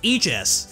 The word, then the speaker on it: Aegis: Pretty much every dictionary agrees that this word is pronounced Aegis, but some of them also list Aegis as an alternative.